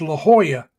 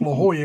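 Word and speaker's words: La Jolla: you go you go to San Diego it's La Hoya but it's spelled laoya right right but it's pronounced La Hoya because J's are hes so that's why I'm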